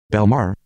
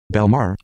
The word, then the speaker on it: Bellemare: Yeah, is still not the right pronunciation. Anyway. Belmar. Belmar.